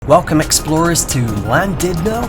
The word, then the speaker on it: Llandudno: welcome explorers to llandudno as the Welsh would pronounce it it's landed now and we are exploring